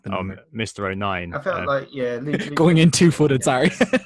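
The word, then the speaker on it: O'Nien: oh nine going in two footed sorry Luke oh nine he's half asian like me which I enjoyed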